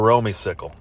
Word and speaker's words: Romeycicle: I hope it's pronounced Romeycicle. That's what it looks like. Talked to a few of my Golden Tee Mobile friends, particularly one Russ Lyons, and we came to the conclusion, you're Romeycicle. It might be Romeycycle, but not today. Sorry, bub. You are Romeycicle.